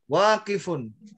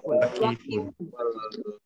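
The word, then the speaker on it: واقف: Sekarang dipikir dulu mana yang panjang itu? Di sini yang panjang ini. Ja-nya. Terus yang panjang lagi wa-nya. Ya enggak? Jadi nanti bacanya jalisun waqifun.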